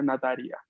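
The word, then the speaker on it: ナタリア: O sea, en japonés tu nombre lo pronunciaría Nataria. Nataria-san, te dirían.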